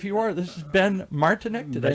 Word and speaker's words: Martinek: This is Ben Martinek. Did I say it right? Yes, you did. Martinek.